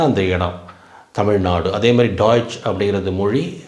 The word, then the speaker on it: Deutsch: German Germany அப்படின்னு சொல்றோம் இங்க வந்து டாய்ஸ் டாய்ஸ் இங்க பாருங்க டாய்ஸ் டாய்ஸ் அப்படின்னு தான் உச்சரிக்கணும் அதுதான் அந்த மொழியோட பேரு இப்ப தமிழ் அப்படின்னு சொல்றோம்ல